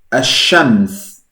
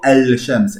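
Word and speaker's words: الشمس: No hay una L, no digo al-shams, eso no, digo ash-shams.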